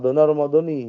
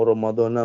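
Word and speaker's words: رمضانِ: Ya terserah mau Ramadhana, mau Ramadhani. Cuman kalau menurut Nahwu Shorof, yang betul Ramadhani. Yang salah Maradona. Kalau nawaitu shauma ghadin an adai fardhi syahri Maradona itu salah. Kalau Ramadhana ya masih. Kalau secara arti betul, cuman secara Nahwu Shorof salah.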